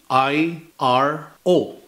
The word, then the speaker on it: iro: So for example, the word iro, which is spelled supposed to be I-R-O. So we pronounce it as iro, which means a dog.